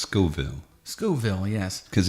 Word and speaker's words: Scoville: you by the Beef Jerky Outlet it's it's pronounced Scoville skille yes cuz it's named after the guy